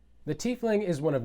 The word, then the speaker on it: tiefling: Christopher Perkins from D&D has also confirmed that the pronunciation of the word is tiefling.